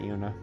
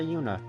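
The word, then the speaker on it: Juna: go in real brother Yuna because I really hate the fact that technically the J is silent but it's technically not silent does the plan sound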